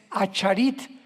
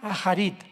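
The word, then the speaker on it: אחרית: Postreros es acharit, así como suena con CH, se pronuncia acharit, acharit.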